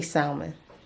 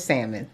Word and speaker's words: salmon: I used to say salmon, but someone said, oh my God, the way you say salmon. Okay, she said, I actually pronounced the L in salmon. I know it's salmon, okay?